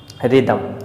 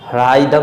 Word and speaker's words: rhythm: Silent हो जाता है, तो इसे हम रिदम पढ़ेंगे और रिदम मीन्स होता है तालमेल।